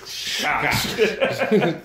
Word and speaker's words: Schacht: Gottfried Thurow and East Schacht. I think that's how you say it. I don't know how to pronounce it. It's Schacht. So it's like a drunk Sean Connery ordering a scotch.